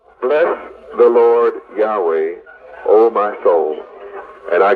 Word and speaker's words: Yahweh: Now understand well y a we is not yahweh's name this is the English pronunciation of yahweh's name so when you see y a we